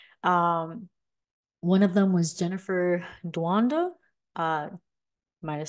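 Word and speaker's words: Doudna: One of them was Jennifer Duanda, might have said her last name wrong, from the University of California, Berkeley.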